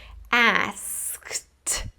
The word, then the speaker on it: asked: ask-ed asked So, even though this word ends in e d, the final sound is actually like a t.